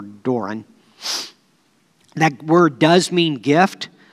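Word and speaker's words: δῶρον: That word gift there is in Greek is D-O-R-O-N. I believe it's pronounced Doron or Doran.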